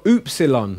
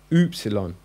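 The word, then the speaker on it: ὖ ψιλόν: tea then you've got OOP salon now you're thinking it's a you but it's more of a double o as in hoops so I think a basketball when you get to epsilon and think of the hoops it's the ooze sound oops alone then we've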